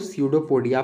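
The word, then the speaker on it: pseudopodia: अब स्यूडोपोडिया को false feed भी कहते हैं, ये पी से स्टार्ट होता है पर इसको स्यूडोपोडिया पढ़ते हैं, ठीक है, कंफ्यूज नहीं होना है, पी साइलेंट होता है, स्यूडोपोडिया, ठीक है।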